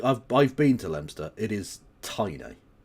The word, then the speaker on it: Leominster: The largest town in her fucking constituency is Leominster, which I know is spelt Leominster, but it's pronounced Leominster. Which is like, I've been to Leominster.